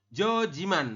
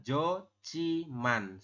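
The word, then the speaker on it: 좋지만: kita membacanya Jiman ya bukan jojiman bukan ya tapi kita membahasnya adalah Jo chiman seperti ini sampai sini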